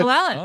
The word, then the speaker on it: Lwin: I'm going to go with I don't know how to pronounce her last name. So, it's Annabella Lwin? Lwin? Lwin. Yeah, Lwin.